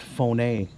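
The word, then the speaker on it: φωνή: for voice look at that guys phone it's pronounced phone a so we're holding in our hands our phones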